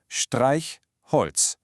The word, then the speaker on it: Streichholz: It's a soft sound you make at the front of your mouth, almost like the H in the English word huge. Listen again. Streichholz.